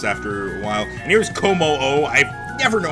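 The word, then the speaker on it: Kommo-o: And here's Como-O. I never know how to pronounce that. I keep wanting to say Como. And yeah, Como-O is pretty much how it is. It's like Susano-O from other series.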